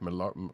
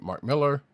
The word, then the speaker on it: Millar: Bleeding Cool and Mark Millar. I keep wanting to say Millar, but Mark Miller, which I still can't believe that's how you pronounce his name for some reason after all the time.